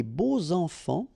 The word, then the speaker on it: beaux enfants: And here it's quite interesting because even if you've got this X, well, phonetically it will be like Z. So like if it would be an S, okay?